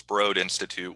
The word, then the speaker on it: Broad Institute: for the broad institute it's spelled b-r-o-a-d so it looks like broad but it's broad institute which is a um